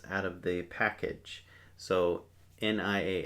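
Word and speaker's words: nias: So, n i a s we pronounce nia.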